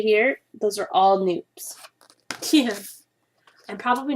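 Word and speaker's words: nupps: I did not realize how many of these stitch patterns have noops in them. You may have seen them as nups, N-U-P-P-S, but they're pronounced noops.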